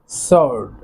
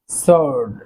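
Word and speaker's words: sword: সেজন্য আমরা যদি এগুলোর ব্যবহার একবার শিখে নেই বা দেখে নেই, সেই ক্ষেত্রে কিন্তু আমাদের আর এই ওয়ার্ডগুলোর উচ্চারণ আর ভুল হবে না। দেন রয়েছে সোর্ড। সোর্ড অর্থ তলোয়ার।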